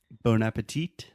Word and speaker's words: bon appétit: Bon appetit. A gente em português fala bom apetite. Yeah, that one's not too different. Bon And in appetit. French, bon appétit.